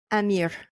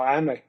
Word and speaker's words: Amer: Is it Amer or Amir? No, Amer. You said it right.